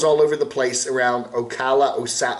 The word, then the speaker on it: Ocala: So he travels all over the place around Ocala, how do you say it, Ocala, up there north of Orlando, and can't find